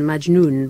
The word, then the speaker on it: Majnoun: We're going to start with Betsabeh Emran, who's starring in Majnoun by the... have I pronounced that right?